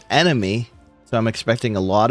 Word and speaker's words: NME: We're on map 19 NME, which I believe is pronounced enemy.